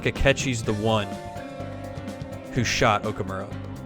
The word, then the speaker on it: Akechi: I feel like Akechi's the one who shot Okamura. That Akechi's been the one that's been being used by Shido to do all this stuff. Akechi rhymes with sketchy.